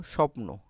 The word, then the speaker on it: স্বপ্ন: দেখো স্বপ্ন এখানে বফলা আছে না?